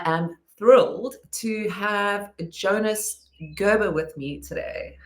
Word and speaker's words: Gerber: Um Gerber is how is how we pronounce it, how I pronounce it.